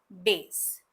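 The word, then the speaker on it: bass: अब इसकी पहली जो प्रोनंसिएशन है वो है बेस जिसे हम म्यूजिक के फील्ड में यूज करते हैं जिसे गहरी आवाज कहा जाता है। जैसे कि गायक की आवाज गहरी है। The singer has अ बेस voice. Number two जो प्रोनंसिएशन है उसे हम कहेंगे बास जो एक तरह की मछली होती है। जैसे कि हम कह सकते हैं कि उन्होंने फिशिंग करते हुए एक बास पकड़ ली।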